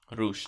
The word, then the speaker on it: Rush: So we have Dalton Castle versus Rush, supposedly. Roosh. Sorry. You gotta say it Spanishly. Roosh.